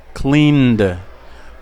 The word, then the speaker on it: cleaned: Clean tiene vibración, tiene voz, lo pronuncio como D. Cleaned.